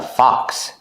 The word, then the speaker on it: fox: This is a fox. It's a fox. It's an animal. How do you pronounce fox? Fox. Use the open sound ah like hot and stop. Fox. Like blocks and clocks.